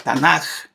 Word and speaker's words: Tanakh: Entonces vamos a, cuando digan la Tanakh, como J, perdón, no como G, como J.